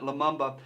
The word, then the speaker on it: Lumumba: I it's a mouthful I did double-check that but you pronounce it Lumumba and he is the